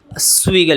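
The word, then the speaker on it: Zweig: এটা হচ্ছে chess Stephen সুইগের লেখা। এটা কিন্তু জেগ না সুইগি আসলে এটার উচ্চারণ।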